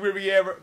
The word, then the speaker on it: Rivera: Rivera. That's how you say it, right? Riviera. It's Rivera. Rivera.